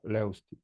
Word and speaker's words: Levstik: uh hi uh my last name would be pronounced uh Leti Leti yeah okay close enough right close enough